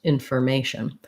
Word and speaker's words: information: of the word, or in a word like information, because the may syllable is stressed, that that FOR spelling is short and unstressed, information, but it still has that tight sound.